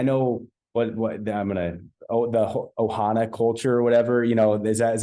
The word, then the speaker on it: ohana: I know what I'm gonna the Ohana culture or whatever.